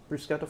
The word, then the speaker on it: bruschetta: rules of pronunciation, like if you see a C by itself or if you see a CH is usually a K sound in Italian.